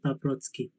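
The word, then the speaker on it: Paprocki: So if it's just a C, it's Paprotsky.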